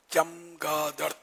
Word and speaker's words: چمگادڑ: یہ چمگادڑ ہے، چمگادڑ ہے، چمگادڑ ہے نا، اس کا تلفظ چے پر زبر، چمگادڑ۔ یعنی یہ جو کہا